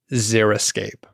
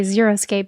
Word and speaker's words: xeriscape: so she told me it was xeriscape okay that's that that was my guess but it's such an awkward pronunciation i understand why people say xeroscape because we know the word zero zera is like a very odd thing to come out of your mouth um i think robert